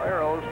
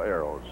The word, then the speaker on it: Aeros: arrows and incidentally uh arrows is not spelled a-r-o-w-s as though it's uh even though it may be pronounced that way or sound like it it's a-e-r-o-s because it has to do of course with the famous wichita aeronautical factories down there ground ball bouncing